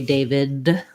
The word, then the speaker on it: David: might notice is that i also don't really say david with a clear d sound what we tend to do there is make a stop so david david i don't really release my air from that d sound which might make you